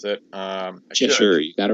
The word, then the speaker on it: Cheshire: I don't know how to pronounce it. Cheshire, you got it right.